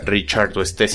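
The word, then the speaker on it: Richardoestesia: y tool estés y ricardo especia aunque bueno este último técnicamente se pronunciaría richard tu estés ya persona raro sharon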